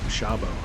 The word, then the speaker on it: Sabo: The last name's Sabo. It's spelled S-A-B-O here in the States, but originally I know it would have been S-Z-A-B-O. Because if I understand Hungarian right, S-A-B-O would actually be pronounced Shabo.